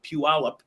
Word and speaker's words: Puyallup: still have to pause to get it right Puyallup it looks like there's too many letters in